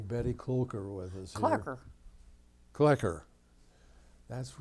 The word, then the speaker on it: Kloecker: Kloecker. Kloecker. That's right. rhymes You with- said no umlaut. That's right. It rhymes with checker.